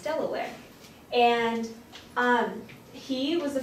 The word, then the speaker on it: Delaware: Baron Delaware and this Dayla War it looks like that it's actually pronounced Delaware and um he was